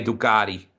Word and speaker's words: Ducati: So where did the Ducati obsession come from? Or as Americans say, Ducati.